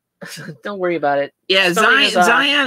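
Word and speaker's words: Scion: worry about it yeah zion is spelled s-c-i-o-n which is really weird it should be like zio and so yeah totally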